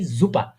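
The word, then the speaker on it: Suppe: সেট, হ্যাঁ, যার কারণে ওরা এসটা, হ্যাঁ, যার কারণে এসটা ওরা আর এস এর মতো উচ্চারণ করে না। এটা কি সুপার না হয়? সুপার না হলে এটা কি জুপা?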